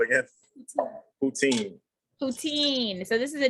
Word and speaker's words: poutine: have to ask them again because i keep mispronouncing it what's it called again poutine poutine so this is a dish from canada